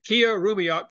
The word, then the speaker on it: Killarumiyoq: I compliment you on pronouncing it right. It's difficult. Nobody does at first, not even me. Killarumiyoq.